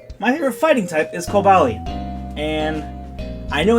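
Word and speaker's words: Cobalion: Togekiss and mawa my favorite fighting type is kalian and I know it's technically pronounced calian but I don't like that pronunciation but still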